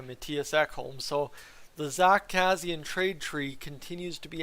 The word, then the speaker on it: Kassian: Zach Kassian, and I still say it Kassian with 2 Z's. That seems like the right way to say it to me. Trade history. Zach Kassian has been traded 4 times in his life.